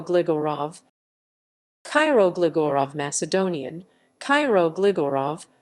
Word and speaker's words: Kiro Gligorov: cairo gligorov cairo glegor of macedonian cairo gligorov pronounced cairo gligorov listen may 3 1917 january 1